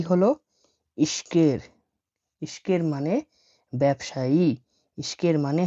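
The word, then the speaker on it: ишкер: ব্যবসায়ীর কিরগিস হচ্ছে ইশকের। ইশকের মানে ব্যবসায়ী। দেখুন এখানে লিখা আছে ইশকের আমি ভেঙে দিচ্ছি এটা আই এস এইচ এটা কে এটা ই এটা আর তাহলে কি হলো ইশকের ইশকের মানে ব্যবসায়ী ইশকের মানে হল ব্যবসায়ী দেখুন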